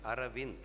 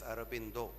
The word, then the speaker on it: Aravind: In Tamil, we pronounce it as Aravind. We don't pronounce it as Aurobindo.